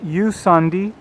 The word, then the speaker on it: Jusandi: this is you sandy spelled with a j um a small boutique